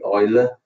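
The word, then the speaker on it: Euler: so at the moment we just focus on Oiler method first yeah so today we just go through this Oiler method I use the word Oiler pronunciation you can call it ul and so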